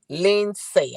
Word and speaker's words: Lindsay: Lindsay. I think that's how you say it. The D is silent.